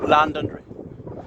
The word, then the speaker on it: Londonderry: pronounce it like this, Londonderry. So the London so overemphasised that the Derry was scarcely audible.